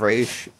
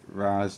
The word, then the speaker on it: Ra's: Ra's al Ghul is pronounced in this movie instead of Raish, like normally was before the Nolan trilogy. To my knowledge, so instance has been. Sometimes people pronounce it Raz, and sometimes people pronounce it Raish, and in other adaptations.